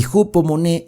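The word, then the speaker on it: ὑπομονή: sería perseverancia porque la paciencia en griego se pronuncia moné y jupo moné es resistir aguantar entonces tú aguantas tú resistes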